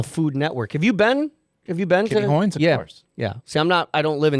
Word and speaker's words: Kitty Hoynes: Kitty Hoynes.